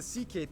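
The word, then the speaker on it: Székely: all went down then we get to the ck people the second most populous minority yes that's how you pronounce it basically cousins of the hungarians these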